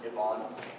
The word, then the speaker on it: Ivan: For our next talk, we're going to have my really good close friend, Yvonne. It's spelled Ivan, but he doesn't like that at all.